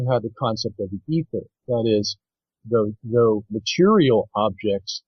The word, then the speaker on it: aether: Yeah, ether. Ether. It's spelled in two different ways, E-T-H-E-R or A-E-T-H-E-R.